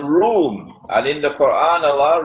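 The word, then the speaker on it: روم: an alliance with room is spelled it is pronounced like R room but the Arabic word room is uh it describes Eastern Christian Christianity when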